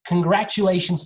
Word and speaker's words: congratulations: would like to say congratulations to everyone who stayed here for an hour good work everyone congratulations the first the beginning of this word is can can not call okay congratulations congratulations it's long